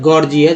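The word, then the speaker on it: gorgeous: ज बोला जाता है, एक ही वर्ड मीनिंग है गॉर्जियस, जिसमें जी पहला जी ग के रूप में और यहाँ जो दूसरा जी जो है ज के रूप में उच्चारण हो रहा है।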